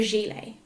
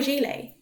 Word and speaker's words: gilet: it is called a ‘gilet’ or ‘body-warmer’. Gilet is actually a French word so even though it is spelt ‘gilet’ the 't' is silent.